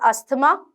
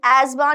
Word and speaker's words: asthma: First of all, I have seen a lot of people pronouncing it as asthma, but being a NEET aspirant, being a biology student, please do not mess up with the pronunciation. It is asthma, not asthma, okay?